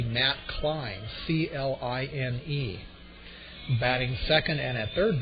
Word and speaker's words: Klein: Leading it off and at second base is number 3, Matt Klein, Kline.